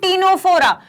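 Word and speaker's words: Ctenophora: for ceiling data and टीनोस्पोरा यह जो सी है यह साइलेंट है यह पानी फेरा सेलिब्रेट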